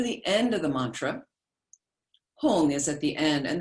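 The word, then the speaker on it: hum: end of the mantra hong is at the end and the hong is spelled two ways we spell it in english h-u-m or h-g-n-g doesn't matter both the same sanskrit syllable hong okay which also lacks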